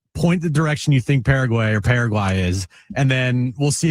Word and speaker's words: Paraguay: Paraguay. Thank you. Paraguay. I mean, were we really going to trust Jim on the pronunciation when he missed the continent?